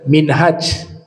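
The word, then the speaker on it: منهاج: ada tambahan Sabda nabi minhaj itu sistem pemerintahan karena dikaitkan dengan ini cara baca kaidah bahasa Arab kalau huruf hanya pakai Alif bacanya minhaj kalau huruf hanya tanpa Alif bacanya Manhaj kalau hanya pakai Alif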